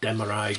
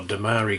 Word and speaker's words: Demarai: adams roseanne quebec and demarai gray or damari gray whichever way you want to pronounce it next up we have